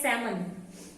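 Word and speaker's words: salmon: और सैल्मन, सैल्मन में L silent रहता है, बोलते हैं सैमन, सैमन मछली, ठीक है।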